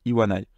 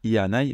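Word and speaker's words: いわない: aille il y en ay on va dire iwanai parce que c'est plus facile à prononcer c'est la seule exception de tout le tableau apprenez là en vrai c'est assez instinctif donc ça devient pas ianail mais iwanai et ensuite ici je vous montre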